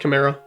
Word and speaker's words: Chimera: Or Chimera, yeah, I think it's pronounced Chimera.